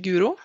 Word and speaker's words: Guro: start barn among but i would pronounce my name as guru i've even had a